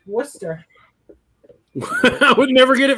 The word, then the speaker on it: Worcester: christmas time the town in massachusetts is actually pronounced worcester i would never get it from mass valley